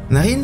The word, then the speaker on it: Naryn: and we have arrived in Naryn! (pronounced like "nostril" in French) Hahaha the funny name, we all had a good laugh.